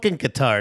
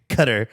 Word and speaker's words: Qatar: cup dude thank you it's guitar and I'm not gonna pronounce it cutter because I'm pronouncing it in English and it reads Qatar to me you know yeah it's